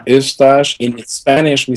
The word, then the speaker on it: Eustache: Yeah, Eustache, because it's like mustache with an E at the beginning.